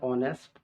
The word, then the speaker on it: honest: यहाँ ऑनेस्ट, HONEST, ऑनेस्ट, ऑनेस्ट के उच्चारण में यहाँ एच साइलेंट हो जाता है और ओ से शुरू होता है। और इसको हिंदी में लिखते हैं, देखिए ऑनेस्ट, तो ये अ स्वर वर्ण में आता है। तो उच्चारण में यदि उसका पहला लेटर हिंदी में स्वर के जैसा हो तो वहां एन का प्रयोग करेंगे, इसलिए होगा एन ऑनेस्ट।